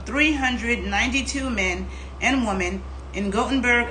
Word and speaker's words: Gothenburg: men and women in gothenburg only pronounces gutenberg sweden over an 18-year period